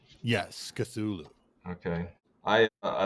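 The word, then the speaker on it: Cthulhu: the girl of cthulu is that how you pronounce that cthulu yes cthulu okay I I like the story of minky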